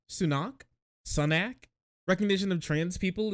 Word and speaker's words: Sunak: ain't happy what are you Scottish or something Sonic is that how you pronounce that guy's name sunak sunak recognition of trans people is driven at